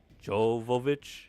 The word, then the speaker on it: Jovovich: How do you pronounce her name? Jovovich.